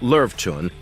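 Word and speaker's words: Löwchen: like lions but the Lin pronounced LV Chun has a name that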